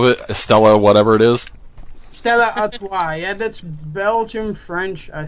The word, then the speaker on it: Stella Artois: I don't know how to pronounce the last name of it. Stella, whatever it is. Stella Artois.